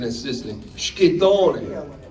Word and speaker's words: Schittone: So, Schittone, Schito, like shh, like that first.